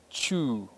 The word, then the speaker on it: cw: W is pronounced as U. So Chu, which is the word for market, is CW, Chu.